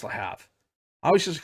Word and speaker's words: Le Havre: See, I want to pronounce that Havre because there's a town in Montana called Havre that I've been to multiple times. I think it's Le Havre.